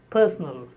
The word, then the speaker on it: personal: The word personal is stressed on the first syllable and personnel is stressed on the third syllable.